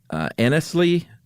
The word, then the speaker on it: Anglesea: But Anglesea v. Anglesea. I would say Anglesea. Anglesea? Mm-hmm. Really? Yeah, I guess you could pronounce it Anglesea, huh? It's Anglesea, Jennifer Aniston versus Julio Iglesias.